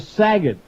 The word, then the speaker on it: Saget: Bob Saget. Rhymes with maggot, 29.